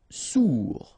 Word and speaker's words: sourd: Sourd, final day not pronounced, O-U together, ou sourd.